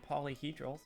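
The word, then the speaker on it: Paulyhedral: You can follow me on Blue Sky at Polyhedral, spelled like P-A-U-L-Y, Hedral.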